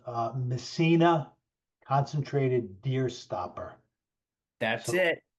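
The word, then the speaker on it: Messinas: Amazon is called uh missina concentrated deer stopper that's it thank you Michael missina so just think of the uh Town up in Northern New York although it's spelled differently the caveat with that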